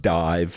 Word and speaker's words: DIIV: the band's name is spelled di IV it's pronounced dive and the reason for this is that the